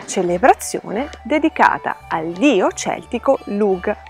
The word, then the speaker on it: Lugh: dedicata al dio celtico lug che tra l'altro andrebbe pronunciato come lui in questo caso ancora come se raggi non esistesse ancora oggi la parola